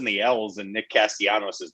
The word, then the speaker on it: Castellanos: concerning myself with but last night he kept pronouncing the l's and nick castiano's name and as a tigers fan who listened